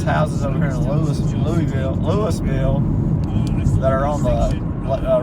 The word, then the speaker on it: Louisville: the city of Louisville Kentucky but here they pronounce it Louisville about population a little over 4,000 ax39 and